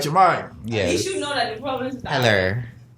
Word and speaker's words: Jahmai: Jahmai, Oh my God.